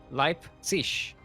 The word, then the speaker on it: Leipzig: Leipzig. I can't pronounce it. I am not German, you... Me neither. Leipzig? Leipzig? Leipzig. Leipzig. Wait, whoa. like light, but with a P. Leip. Yeah. Leipzig.